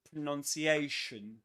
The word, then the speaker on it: pronunciation: And something else another curiosity about pronunciation is that pronunciation is a double stressed word. Which means that there are two accents, two accented syllables. The one carrying the main accent is this one.